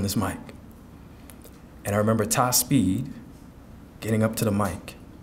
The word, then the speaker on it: Tihspeed: He said, that's Ty Speed.